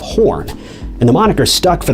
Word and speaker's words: Horne: who during roll call accidentally pronounced his surname as horse instead of horn and the moniker stuck